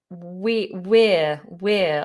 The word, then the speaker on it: we're: And then there's the word we're, like we are. We're. Now, there are two ways to say this. We're. It's got the diphthong ear in it, like your ear.